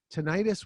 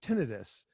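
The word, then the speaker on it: tinnitus: peeves it's not tenius ttis would be an inflamed tin we use the term itis specifically to mean inflammation of uh also if somebody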